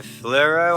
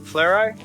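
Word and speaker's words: Fleurieu: are going to explore the fluoro I think it's pronounced fleuro Peninsula um it's about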